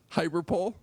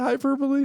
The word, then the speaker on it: hyperbole: Is it hyperbole? Let's see. Hyperpole. It's spelled hyperpole because that's how I knew you. It looks like hyperpole, but you're trying to say hyperbole.